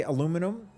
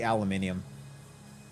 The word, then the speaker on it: aluminium: how do you say aluminum oh uh cringe I like to say aluminium but I was taught to be called aluminum who is this person